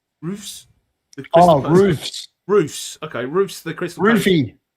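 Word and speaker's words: Roefs: How do I pronounce his name? Roofs.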